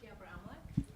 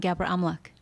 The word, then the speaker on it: Bebre-Amlak: Bebre-Amlak. One more time. It's actually Bebre-Amlak. Thank you. Bebre-Amlak, I still butchered it.